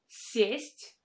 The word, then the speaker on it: сесть: In the first word, I pronounce this vowel е as э, with a softened с.